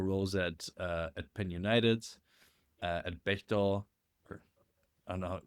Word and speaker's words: Bechtel: at Penn United, at Bechtel, or I don't know how did you pronounce Bechtel? Bechtel. Bechtel, yeah, the American. Okay, Yeah. good. I pronounced it German.